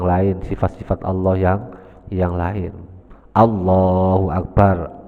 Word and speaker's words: Allahu Akbar: Allahu Akbar. Allah dan A-nya dibaca panjang.